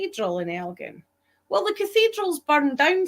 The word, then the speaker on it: Elgin: There's an Elgin in Ontario, and there's another one which escapes me at the moment, but all the rest of them are Elgins. Right. But all the ones with a hard G like we have people